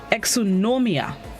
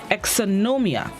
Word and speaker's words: exonumia: have it right exonomium exonomia it's spelled e x o n u m i a exonomia it is a plural